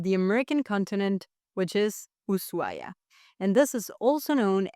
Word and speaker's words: Ushuaia: But the proper one said by the locals is the one without the huay because in Spanish technically we don't pronounce the h when it comes after an s.